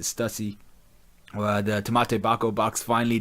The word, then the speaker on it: Stussy: We found out more about Stussy or Stussy. I pronounce it Stussy.